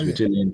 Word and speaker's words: Beautillion: That's how you pronounce it, right? Beautillion? Yeah, it's Bahamas Beautillion Committee, yes.